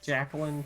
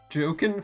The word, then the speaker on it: Joaquin: Jacqueline Phoenix. There we go. Joaquin Phoenix.